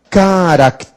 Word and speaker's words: caracteres: caracteres Olha que interessante a palavra caráter é uma paroxítona terminada em R por isso tem acento mas quando vai para o plural a sílaba tônica muda para o pé caracteres então aí não tem mais acento Cuidado hein é uma palavra quando vai para o plural muda acentuação gráfica porque também muda acentuação tônica um caráter dois